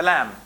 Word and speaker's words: lamb: Like for example, he uses the lamb. You know the little lamb? The lamb? Silent B here.